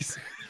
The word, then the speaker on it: sake: Well, I love some sake early Sake. in the morning. I think it's pronounced sake. Sake. You pronounce the E in Japanese.